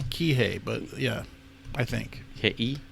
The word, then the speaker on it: Kihei: Kihei. Kihei. Because you pronounce all the volumes.